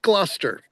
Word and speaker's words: Gloucester: Gloucester, even though it's spelled g l o u c e s t e r, it's just pronounced Gloucester.